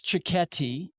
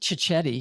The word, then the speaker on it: cicchetti: It's an osteria that serves cicchetti, which are little Italian bites. Not cicchetti. I think I was mispronouncing that too.